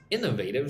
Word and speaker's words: innovative: of Latin America's most innovative cities. That's according to the Wall Street Journal, the newspaper. So, innovative. Look at the word innovative. Inivateive. Innovative. Most emphasis goes on the first syllable.